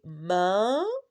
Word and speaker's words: main: Main, on répète ensemble, main. Le deuxième mot, ananas. Deuxième mot, c'est quoi? Ananas. Qu'est-ce qu'on a remarqué? Dans ce premier mot, la lettre N, on ne la prononce pas.